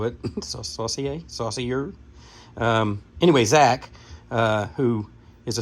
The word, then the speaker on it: Saucier: this, and Zach Saucier, hopefully I pronounced your last name right. That's how the French would do it. Saucier.